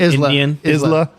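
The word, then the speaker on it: Islay: uh eastl or or how do you say Isla there you go okay I've never been to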